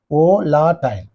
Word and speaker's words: volatile: Volatile. Okay, pivotal. So you have to cut the word into syllables. Then you say on the first syllable only there must be stress.